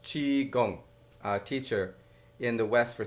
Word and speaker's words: Qigong: Michael Winn has been a seminal Qigong, Qigong pronounced Qigong, teacher in the West for 35 years.